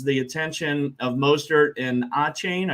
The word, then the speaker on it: Achane: attention of Mostert and Achane. I guess, is that how you pronounce it? Yeah, they're Achane.